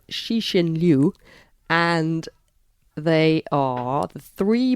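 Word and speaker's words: Cixin Liu: a Chinese author um I understand his name is pronounced shishin Liu and they are the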